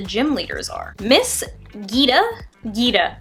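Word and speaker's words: Geeta: Gita. I want to assume that it's pronounced Gita because it's two E's, so Miss Gita, chairwoman of the Pokemon League.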